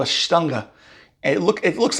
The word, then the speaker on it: Stange: Remember that in Cologne with the Kolsch, they use a glass called a Stange. And it looks like it's spelled Stang, S-T-A-N-G-E, but I was told the proper pronunciation is Stange, or at least how they say it.